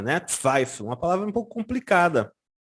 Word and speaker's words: Zweifel: O L normalmente se faz com a língua no céu da boca.